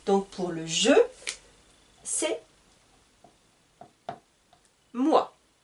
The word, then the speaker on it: moi: Donc pour le je, c'est moi. Petit rappel, OI, donc OI, en français se prononce OA.